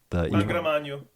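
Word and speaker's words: Angra Mainyu: Angramanyu.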